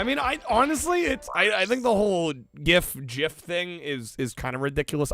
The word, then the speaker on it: GIF: The creator did go on record saying it's Jif, like the peanut butter.